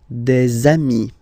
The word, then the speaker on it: des amis: de, okay, here, and then there is this little liaison, remember, it's been introduced in a previous lesson. You put this little link between the word, des amis, okay, I've been taking